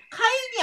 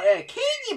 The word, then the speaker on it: 케인: 그 나무 위키에서 보니까 카인이 아니고 케인이 맞다고 하더라고요. 여러분들 일본어 해보셨던 분들이라면은 카바르마시잖아요. 카 발음에서 카키쿠케코 할 때 그 케할 때 그거거든요.